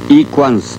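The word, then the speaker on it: 李光洙: 李光洙、イ・クァンスと読みます。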